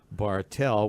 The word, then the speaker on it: Bartelt: Speaking of very big, longtime Chicago area resident, Jeff Bartelt with a silent T. Well, whatever way. He doesn't care how you pronounce it. Bartelt with a cross T at the end.